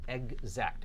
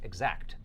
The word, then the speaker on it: exact: right that we eat so egg and then Zach there's a Z or a Zed sound eggs act exact exact the time is 11:10 a.m.